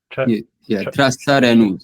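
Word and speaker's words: trasareṇus: The time duration needed for the integration of 3 Trasarenus, is that how you say it? Trasarenus, yeah.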